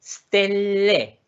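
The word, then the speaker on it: ställe: Y stele, ojo, la pronunciación, las dos L, stelle, stelle, stelle, es un lugar.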